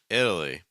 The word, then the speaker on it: Italy: we can put everything else together it's like Italy Italy Italy Italy Italy Italy Italy okay no it's not Italy or Italy or Italy or Italy or anything like that no it's Italy Italy okay if you still find that to